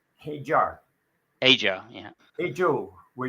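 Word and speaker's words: Hadjar: With Hajar. That's how you actually pronounce it. Hajar.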